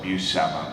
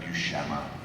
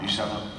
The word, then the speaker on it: Buscema: I always call it Buscema, but I believe it's pronounced Buscema. No, you were right. Buscema.